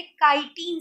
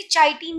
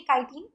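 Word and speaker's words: chitin: Cell wall बनती है काइटिन से। ठीक है, कोई कोई इसे चाइटिन भी पढ़ता है बट इसका प्रोनाउंसिएशन है काइटिन।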